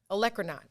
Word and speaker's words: olecranon: about people saying poinsettia and vinaigrette, I said olecranon wrong, and now I'm saying it right. So there you have it. That is the one mistake ever in life y'all gonna see me make. Olecranon.